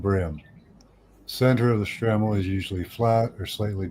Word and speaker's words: shtreimel: The center of the Stremel is usually flat or slightly domed or covered with fabric for comfort and structure.